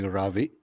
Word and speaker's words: Ravi: Um, People who know me in my personal life call me Ravi, but and it's easy to spell. You pronounce it like ravioli, but just drop the oli, um, and that's and that's pretty much my first name.